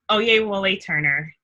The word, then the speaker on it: Oyewole Turner: And Oyewole Turner. I really... Very close. Could you pronounce that correctly? I'm sorry. It's fine. It's Oyewole Turner.